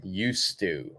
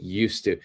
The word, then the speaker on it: used to: going to be this used to okay used to we don't say the D when we're speaking when you're writing please